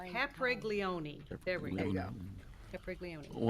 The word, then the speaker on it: Capriglione: I just wanna see if we can pronounce his name. Giovanni Caprigloni? - Giovanni Cap, Capre, Capreloling. - Capreloni. - Capre-- - Why, why, why. - Capriglione.